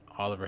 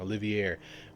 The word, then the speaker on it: Olivier: when uh he read that and it said Oliver has been named Olivier. I'm sorry I'm pronouncing his name wrong. Olivier.